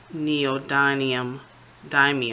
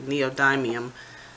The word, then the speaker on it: neodymium: so you can see the effects of the neo dynam die me I'm so I'm pronouncing it incorrectly neodymium magnet so I'm gonna angle it this way